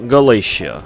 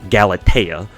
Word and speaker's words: Galatea: think so so galate it's a hard T so anyways uh galatea